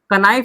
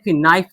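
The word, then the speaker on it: knife: कनाइफ नहीं पढ़ेंगे, एन आई एफ नाइफ पढ़ेंगे। क्या पढ़ेंगे? नाइफ। के क्या हो गया? साइलेंट।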